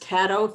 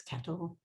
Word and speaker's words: Caddo: Pronounced Caddo, think the word Caddo. Lots of people want to say Caddo, but it's Caddo.